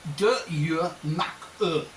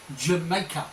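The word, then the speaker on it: D'yer Mak'er: Led Zeppelin recorded a song called, if I say it phonetically and then say it how it's meant to sound, right? Phonetically it's De Je Mak E. It basically was Jamaica or Jamaica.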